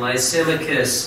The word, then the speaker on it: Lysimachus: ly si ma th us my symmachus and Lysimachus got the area of Thrace and Asia and